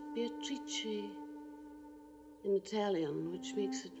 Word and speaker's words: Beatrice: It is pronounced Beatrice in Italian, which makes it very beautiful.